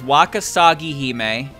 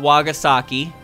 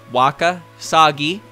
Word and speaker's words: Wakasagihime: so it's wakasagihime not wagasaki in case you didn't know because i've i pronounced that incorrectly so i have learned it is waka sagi not wagasaki remember this this is